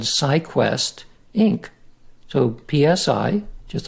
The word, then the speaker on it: psi: We use PSI is the first letter of the word psyche in Greek, and it's pronounced psi.